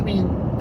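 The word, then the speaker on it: Mebane: e b n e my brain says meay but I guess anunciation says mean is the proper way I don't know me Bane sounds like very caveman is me Bane me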